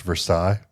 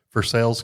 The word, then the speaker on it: Versailles: from around here and assume it's pronounced Versailles, but no, we call it Versailles. for sales Kentucky and that's when there was something awful that happened.